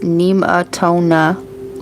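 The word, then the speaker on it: Nemetona: Neimatona, pronounced Nemaatona, lady of the sacred grove, was worshiped by the Nemates in Germanic Celtic people of the 1st century B.CE.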